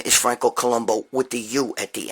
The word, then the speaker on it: Columbu: end with you his real name is Franco Columbu what do you at the end okay that doesn't mean it's you know everybody thinks it's Columbo but it is it's pronounced that way Columbo okay in Italian here's the deal this guy